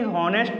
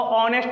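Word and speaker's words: honest: तो आपको यहाँ पे ये नहीं समझना कि ये हॉनेस्ट है, यहाँ पर एच साइलेंट है। एच साइलेंट है इसलिए इसको पढ़ा जाता है ऑनेस्ट। और ऑनेस्ट में क्या आ रहा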